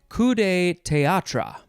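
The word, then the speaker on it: coup de théâtre: that's as this is this is where the french pronunciation really comes in kudai teatra i think i said it very american though let's see i can't do the the r thing in the back it's terrible i hate it okay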